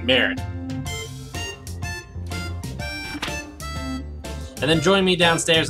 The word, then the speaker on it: merde: Okay, the wonderful powers of Google have informed me that it's pronounced Murd. I can't really get the whole French accent thing going, I'm really sorry, I just can't do it, but merde.